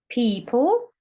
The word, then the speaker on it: people: People, also a tricky word because you've got silent letters in it.